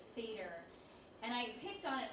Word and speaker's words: Seder: I do remember this thing about the woman saying cedar instead of seder, and I picked on it only because to note the lack of training.